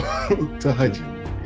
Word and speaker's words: Tahajjud: I called it Tahajjud. I know how to pronounce it. So Tahajjud. Tahajjud, yes.